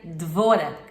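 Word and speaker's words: Devorah: Israel e se chamava Débora Kim hebraico se pronuncia devora e devora significa abelha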